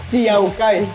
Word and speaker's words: See Yao Gai: Could you tell me a little bit about, how do I pronounce it? See Yao Gai? See Yao Gai.